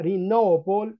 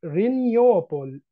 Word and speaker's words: renewable: انا بقولها رينوبول ودي الامريكان، في بعض الناس بتقولها رينيوبول، تمام؟ الاثنين صح ما فيهمش مشكله، دي امريكان ودي بريتش.